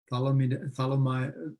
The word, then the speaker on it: thalidomide: research causing problems, starting with mercury, lead, DDT, thalidomide, how do you pronounce it, that drug name?